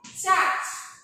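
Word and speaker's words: church: এইচ উচ্চারণটা কি হচ্ছে চার্চ যেটা হ্যাঁ চার্চ তাহলে সিএইচটা চয়ের মতো উচ্চারণ হচ্ছে সিএইচ যখন সিঙ্গুলার নাউনের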